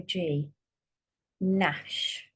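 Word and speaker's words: gnash: there silent P or G Nash that would be a g so that's what you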